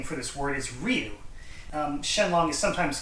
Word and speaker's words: Shen Long: But the Chinese pronunciation for this character for dragon is Long, and the Japanese reading is Ryu.